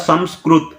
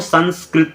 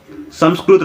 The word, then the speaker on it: संस्कृत: देखो सबसे पहली बात तो ये जो ऊपर अंग की मात्रा है वो ना नहीं होता, वो माँ होता है। संस्कृत, संस्कृत, हम लोग इसको असली उच्चारण जो होता है वो ऐसे होता है संस्कृत, लेकिन लोग इसको मतलब इसका बिगड़ा हुआ जो रूप है वो संस्कृत बोलते हैं वो लोग, संस्कृत। लेकिन असल में संस्कृत रॉन्ग है, संस्कृत राइट है, प्रकृति रॉन्ग है।